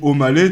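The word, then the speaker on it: Aumale: avait une station après je sais pas si ça se dit omalé tu vois mais c'est a u m a l e Omal ah ah ouais ah ouais ça s'écrit comme ça ok ouais tu pens je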